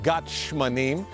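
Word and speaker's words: גת שמנים: In Hebrew, we pronounce Gethsemane, Gethsemane, translated literally, a olive press.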